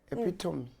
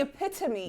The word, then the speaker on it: epitome: And our next word is epitome. Ah, you know this one because this one has been a meme. The epitome.